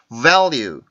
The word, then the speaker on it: value: 그래서 나중에 문장에 가면 다시 한번 설명을 드릴 테니까 지금 여기에서 L 발음의 특징은 힘이 세서 자기 힘을 주체를 못해서 자기 앞뒤에 있는 모든 음절에 다 영향을 미친다라고 이렇게 알고 계시면 될 것 같아요.